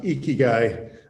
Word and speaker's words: Ikigai: It is, though, pronounced Ikigai.